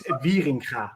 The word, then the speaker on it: Wieringa: It's Wieringa, but that's proper Dutch pronunciation.